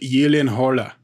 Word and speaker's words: Gyllenhaal: the like Scandinavian names so yeah like Jake Gyllenhaal his his last name is actually pronounced Yi Lin Horla yeah exactly yeah who's gonna do that right